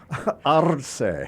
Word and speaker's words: Arce: But in Puerto Rico, Arce. They roll the R's. It's Arce, and they also say there's parts of the regions where they don't pronounce.